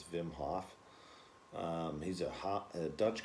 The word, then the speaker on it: Wim Hof: i'm pronouncing his name a lot of people say wim hof but i think in holland it's i'm pretty sure it's vim hoff he's a hot a